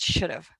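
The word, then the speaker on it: שדפה: in your Lexicon and it is Sheen dallot Fay hey and pronounced should have and I just love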